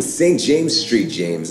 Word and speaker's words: St. James St. James: me not really I'm St James Street James I hate Road abbreviations so I pronounce my last name right now most of